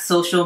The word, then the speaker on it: social: Facebook plays down the negative impact social media plays on mental health. Negative impact っていうのは悪い影響ってことですね。インパクトではなくて impact。pe で伸ばされて t がサイレントですね。 social media。ソーシャルではなくて social で media ですね。これは SNS のことですね。